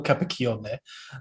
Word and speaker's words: Capacchione: i would i would pronounce my surname for you so it's a cappuccion um but you can